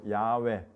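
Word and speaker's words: 야훼: 야외 하나님 요렇게도 왜냐하면 할렐루야 할 때 여호와를 찬양할 때 야가 있잖아요 그래서 이에 첫 요건은 야로 발음 될 것이다 라고 본 거예요 야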